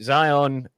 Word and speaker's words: Zion: I've got the Zion. I think that's how you pronounce it. Zion.